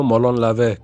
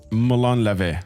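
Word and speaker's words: Μολών λαβέ: So would you be able to give us how to pronounce the song title? Which song are you playing? Oh, the music video. Molon Lave. Come and take. Molon Lave.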